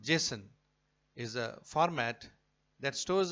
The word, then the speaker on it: JSON: the contents present in a CSV files JS pronounced Jason is a format that stores the information as